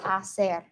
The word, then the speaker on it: hacer: hacer hit they gusta hacer remember the H is silent and hacer means to